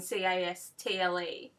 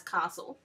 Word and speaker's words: castle: For example, the word castle, as in C-A-S-T-L-E, people from New South Wales pronounce it as castle, and I tend to. However, the Victorian pronunciation is castle.